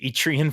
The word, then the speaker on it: Etrian: moving on etrian Odyssey excuse me if I say etrian because I have pronounced it etrian for the last eight years um it's etrian apparently um etrian Odyssey HD